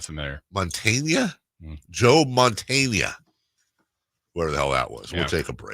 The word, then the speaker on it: Joe Montana: Let me get the pronunciation right. God, how long ago was this? Joa Montana. Joa Montana? Not familiar. Montana? Joe Montana.